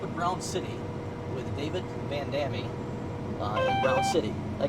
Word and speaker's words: Van Damme: He tells me most people pronounce your name Van Damme, Yeah. but it's Belgium, you said. And how do you pronounce it? Van Damme.